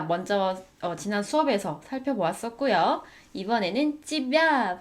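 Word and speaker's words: её: 이번에는 찌벼 발음을 주의해서 읽어주시면 됩니다. 찌벼 스펠링은 예와 야의 모음으로 이루어져 있지만 발음을 하실 때는 강세 때문에 예가 이 발음이 됩니다. 찌벼.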